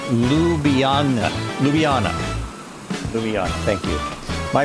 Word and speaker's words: Ljubljana: It's pronounced Ljubljana.